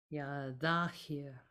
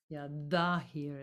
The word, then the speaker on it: Zahir: Ya Zahir. Ya Zahir. Ya Zahir. It's a the z. Ya Zahir. It's like the sound at the beginning of the.